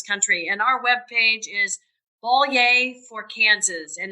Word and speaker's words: Bollier: and our webpage is bolier for kansas and it's b o l l i e r uh pronounced like a bowl of soup and say yay which is exciting so